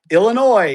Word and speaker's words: Illinois: TPC Deere Run is a premier 18-hole par-71 public championship course located in Silvis, all together now, Illinois. Yay, no S.